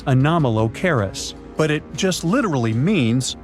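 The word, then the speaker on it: Anomalocaris: The name is a bit tricky to pronounce, so I'm not going to. Okay. Okay. It's anomalis, but it just literally means unusual shrimp.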